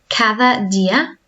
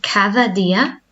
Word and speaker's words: cada día: Cada día. Todos los días. So both have that th sound. Cada día.